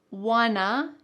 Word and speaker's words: wanna: We don't wanna, here we're gonna combine want to become wanna, be late.